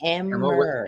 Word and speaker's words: Emmer: Emmer, all right. With an R, because there's an affidavit about her name and her pension. It was Emmer.